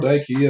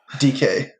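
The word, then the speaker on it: Dike: him but no daryl dykey uh he definitely looks like you're gonna say his name correctly dk oh daryl dk uh it looks like dyke man it does that's good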